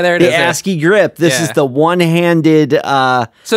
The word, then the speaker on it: ASCII: I don't know how to pronounce it. ASCII.